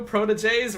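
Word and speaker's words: protégé: When we call them Chiku proteges, we're not calling them prodigies. In case anyone doesn't know what that word is spelled. Protege. Both of the E's have the accent. That's why it's pronounced like that.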